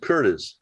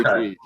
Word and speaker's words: Curtiz: I always pronounce it Curtis, but I don't know. It's Okay. Curtiz.